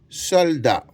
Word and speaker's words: soldat: est un ancien ancien sol da avec un t muet que je ne prononce pas et je mets mon Point majuscule au début, point à la fin.